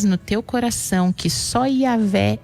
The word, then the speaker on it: Iavé: E o nome de Deus do hebraico, o que a gente consegue uma pronúncia mais próxima disso para o português é Iavé.